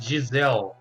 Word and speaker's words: Giselle: It's Giselle. Like, Giselle, let me yeah. actually type that Like in gazelle. chat. Yeah, it's like a gazelle.